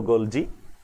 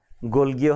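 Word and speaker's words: Golgi: নাই সেটা হলো ইটালিয়ান একজন ভদ্রলোক নাম ক্যামিলো গোলজি বা গোলগিও হতে পারে কোন জায়গায় আমি দেখি গোলগি কোন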